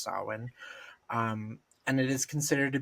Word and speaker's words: Samhain: And then, of course, the season ends with Samhain, which is spelled Samhain but pronounced Samhain, and it is considered to be the darkest and most witchy of all the Sabbats.